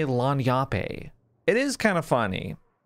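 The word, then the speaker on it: lagniappe: In the interim, I pronounce it lanyape because I was just guessing, and I was told resoundingly that it's pronounced lanyap.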